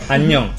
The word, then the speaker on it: 안녕: But you can make a short. 안녕. Similar to onion.